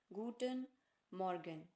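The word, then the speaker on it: Guten Morgen: मॉर्गन जी हां दोस्तों इसका उच्चारण है फिर से ध्यान से सुनिए गटन मॉर्गन इंग्लिश में इसे कहते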